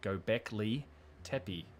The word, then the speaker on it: Göbekli Tepe: sing it back to me in the right pronunciation. Göbekli Tepe.